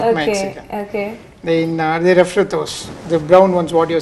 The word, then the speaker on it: refritos: Refritos. Okay. Have I got the pronunciation right? Right, Refritos.